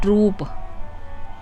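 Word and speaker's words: troupe: ट्रूप ये टी आर ओ यू पी ई इसको हम पढ़ते हैं ट्रूप।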